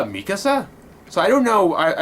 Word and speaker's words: Mikasa: what it is but mika or mika it's mikasa how they pronounce them that's okay that's the one thing